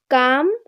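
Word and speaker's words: calm: For example, কাম অ্যান্ড পাম।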